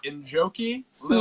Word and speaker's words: Njoki Lilian: Njoki Lilian, Yes, is that right?